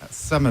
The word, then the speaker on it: Samar: in um how do you pronounce that last name Samar Samar Samar from is